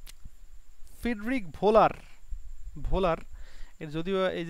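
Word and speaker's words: Wöhler: ঘটছে, এই যে ফ্রিডরিখ ভোলার এর যদিও এই যে এই উচ্চারণ কিন্তু আসলে মানে জার্মান ভাষায় এই যে ডাব্লিউ এর উচ্চারণ হচ্ছে ভয়ের মতো হয়। হ্যাঁ, এই জন্য এটা যদিও ওহলার মনে করো যে এরকম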